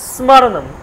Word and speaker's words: স্মরণম: হোক অনেক কিছু বলে তাহলে স্মরণম স্মরণম সটা কিন্তু হালকা উচ্চারণ মটা হালকা হচ্ছে স্মরণম স্মরণম স্মরণম অনেকে বলে স্মরণ আমরা বলি না স্মরণ স্মরণ করছে আমাকে স্মরণ করছে তাকে স্মরণ করছি বা নেতাজীকে স্মরণ করছি বলি আমরা কিন্তু স্মরণ নয় স্মরণ বান তালব্য হয়ে